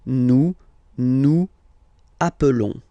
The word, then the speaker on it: nous appelons: Okay, nous appelons, and then little link would be perfect. So let's pronounce the whole thing again. Nous appelons. Nous appelons. Okay, final s doesn't exist.